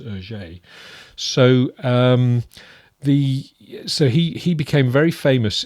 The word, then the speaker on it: Hergé: Hergé is the French pronunciation of his initials. And the initials are reversed, by the way. It's, instead of being GR, it's RG, and that in French is Hergé.